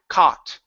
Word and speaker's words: caught: Okay, so we don't need to pronounce an oo. Okay, so there's no need to say c. It's only a ca caught.